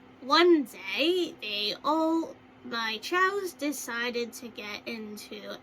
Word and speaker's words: chao: Something similar, or, like something like, one day, my chows decided to get into a, sing-along. Something like that is usually how you pronounce, like, when you say chows in a word.